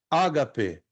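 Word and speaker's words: ἀγάπη: Ó, ágape, ágape, não HP. Ó, porque eu estou entonando, estou dando a entonação na primeira sílaba, concordam? Ó, ágape, ágape.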